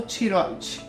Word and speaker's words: tiroide: muitas dúvidas e preocupações é tireoide ou tiroide na verdade a pronúncia de ambas é correto Ah então as os dois jeitos são cer dois jeitos ou tiroide ou tireoide a pronncia po escrever dessa forma e pode falar dessa forma que não tá errado